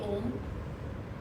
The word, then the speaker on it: Om: A lot of people do it differently, but the way we concentrate and do the Om is that the O should be short and the Ma should be long.